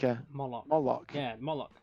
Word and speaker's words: Moloch: like a moloch yeah molock right okay so it could just literally be called monarch uh yeah is that with the m-o-l m-o-l-o-c-h yeah bollock rhymes with this bollocks is there i don't